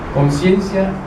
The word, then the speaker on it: conciencia: Lo voy a pronunciar como lo pronuncian los españoles. Una cosa es conciencia y otra cosa es consciencia. Eso lo vamos a explicar en su momento.